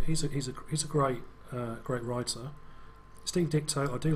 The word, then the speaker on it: Ditko: Steve Ditko, I do like Steve's art. It just doesn't. That way round. What did I say? Dicto. T before K.